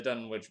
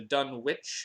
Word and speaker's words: Dunwich: There's always been some debate over whether it's pronounced Dunwich or Dunwich, but based on the British city of the same name, Dunwich. But there's no official ruling on how the New England version of Dunwich is supposed to be pronounced, so all intents and